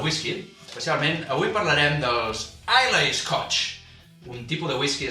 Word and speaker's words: Islay: Una illa, és una illa que està exactament al sud-oest d'Escòcia, que es diu Islay, es pronuncia Islay, tot i que s'escriu Islay, la pronunciació correcta és Islay, en gaèlic escocès.